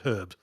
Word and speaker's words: herb: in dumb countries where they don't pronounce the H at the start of herb.